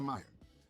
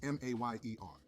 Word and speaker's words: Mayer: Oscar Mayer. The famous hot dog brand has a catchy jingle. My bologna has a first name, it's O-S-C-A-R. My bologna has a second name, it's M-A-Y-E-R.